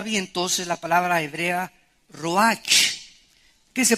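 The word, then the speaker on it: רוח: es la palabra hebrea Roach que se pronuncia prcia ro La ch en el hebreo se pronuncia como j y que es la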